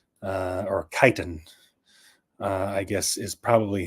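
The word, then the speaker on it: chitin: a certain kind of chitt uh or kiten uh I guess is probably how it's actually pronounced kitan um uh chi t i n I believe it's actually kiten but I always say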